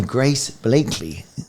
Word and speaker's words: Grace Blakeley: And today we are joined by Grace Blakeley. Have I pronounced that right?